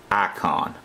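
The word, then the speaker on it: Ayecon: at right now is called icon but it's spelled differently it's spelled with an a it's a y e c o n and we can go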